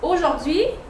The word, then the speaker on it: aujourd'hui: Aujourd'hui. Aujourd'hui. So ash is here, but you don't hear it.